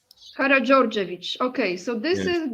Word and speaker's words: Karađorđević: Okay, you know how to pronounce it. House of Karađorđević, right? Karađorđević. Karađorđević.